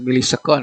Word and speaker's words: milisekon: Nah, ini T-nya 40 milisekon ya. Awas jangan yang bacanya jangan ms ya. 40 milisekon.